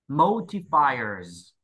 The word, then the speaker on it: modifiers: Modifiers, modifiers, modifiers, nhấn âm ở phi, fires, modifiers. Chữ S cuối cùng đọc là Z ha.